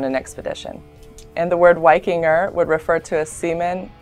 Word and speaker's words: Viking: old nor word Viking is actually pronounced wiking with a W it was found on